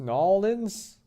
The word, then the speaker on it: New Orleans: tried authentic Cajun food grew up in New Orleans pronounced nollans and po-boys gumbo jambalaya